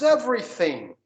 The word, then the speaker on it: everything: How's everything? How's that? Ó, o TH de novo. Eu não falei everything. Eu não tenho G, não tem som e o thing.